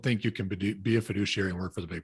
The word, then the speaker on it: fiduciary: So you might be challenged to be a true fiduciary. What'd you say? How do you say that? Fiduciary.